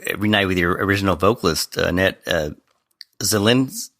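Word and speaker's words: Annette Zilinskas: learn that you reunite with your original vocalist, Annette Zilinkas. Right. Am I pronouncing that correctly?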